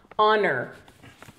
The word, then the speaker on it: honor: Honor. You also, this is an exception, you do not pronounce the H.